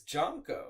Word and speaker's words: Jonko: It's Jonko. It's a hard Oh. J. It's a hard J.